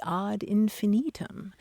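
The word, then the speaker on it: ad infinitum: be talking about things add infinitum because in Latin it would be odd infinitum and Maran the other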